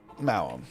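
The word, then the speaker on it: Maoam: Every letter is pronounced differently. M-A-O-A-M. That's the name of him? M-A-O-A-M's? That's ridiculous. Mawam. That's what they are.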